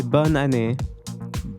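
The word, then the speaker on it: bonne année: Um, do you want to know how to say happy new year in French? Yes. Yeah. We say bonane.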